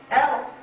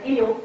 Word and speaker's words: El: However, the name El, which is mispronounced as eel, like Farad was mispronounced,